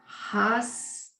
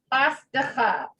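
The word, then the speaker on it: חסדך: Okay, we have two glottal stops here. Yes. Hasdeha. Yes. Hasdecha. Hasdeha. Okay. Hasdecha.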